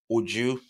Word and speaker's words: Uju: on but we're back here I do have ujju right that's the right pronunciation of your name yes like you have